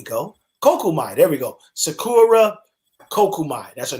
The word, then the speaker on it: Sakura Kokumai: uh random beatings um uh martial arts artist sakura komuai i hope i didn't say her name wrong i probably did sakura kumai ku kokomai there we go kokumai there we go sakura kokumai that's her name uh she's a um a